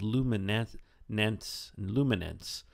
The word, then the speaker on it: Luminance: the iPad is something called Lumin luminance it's spelled l u